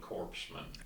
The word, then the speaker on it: corpsman: to be a hospital corpsman the P the p is silent you got it you